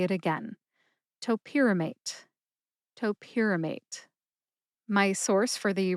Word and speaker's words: topiramate: I told you which syllables to emphasize if any at all, shared my sources, and I cautioned you against saying top pyramate instead of topyramate.